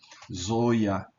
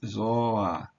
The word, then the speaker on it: Ζῷα: O i não pode ficar subscrito. Ainda que ele não seja pronunciado, ele tá aqui. Então, aqui você está vendo za, ô, i, alfa. Mas não se deve ler, veja bem, não se deve ler zoia, mas sim zoa zoa e não se